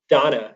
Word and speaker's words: Deanna: Your assistant is a lady named Donna. It's spelled Deanna, but she goes by Donna.